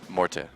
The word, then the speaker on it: Morty: been modified this morning we find out that he has decided that people will pronounce his name the way he always intended as of today which is morte so there you go